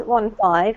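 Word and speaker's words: fifteen: Because if you have 15 and 50, 50 is 50, and the emphasis comes on the first syllable. 15 is 15, and the emphasis comes on the second syllable.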